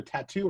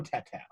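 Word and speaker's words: Tautou: Yeah, it's either Tattoo or Tatao. Let's go Tatao.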